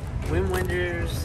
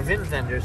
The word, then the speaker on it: Wim Wenders: Wim Wenders, or Vim Vendors, I guess is how you pronounce it.